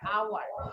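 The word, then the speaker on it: hour: ওকে, যেমন হচ্ছে আওয়ার, আওয়ার মানে হচ্ছে ঘন্টা, এইচ ও ইউ আর, আওয়ার। তো এইচ এটার আগে হচ্ছে অ্যান বসছে কেন? কারণ আয়ের মতো উচ্চারণ হয়েছে, আওয়ার।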